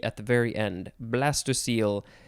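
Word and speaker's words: blastocoel: blighting influence next is blastocyl b-l-a-s-t-o-c-o-e-l or you could add another e at the very end blastocyle it is not pronounced how you would think it would be based on how it is spelled this is a noun from 1875.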